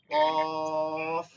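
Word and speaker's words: ق: এরপরে এই হরফটা প্রথমেই আমরা শুরু করছিলাম নিচে উপরে দুই দাত নিচে ঠোটের পেট কফ জিহ্বার গোড়াটা তালুতে গিয়ে লাগবে।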